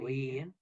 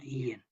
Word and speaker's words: yen: And if you see, a yen is pronounced at that time not yen, but en.